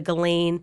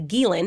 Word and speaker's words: Ghislaine: to virginia roberts and the galen or the guilin is how you actually say her name um defamation suit so